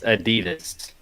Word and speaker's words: adidas: pronounce and before we find out how to pronounce adidas correctly it's adidas what do you think uh we're going to